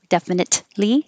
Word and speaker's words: definitely: of the t horizontal definitely you don't have to release the t definitely just hold it there because it's the same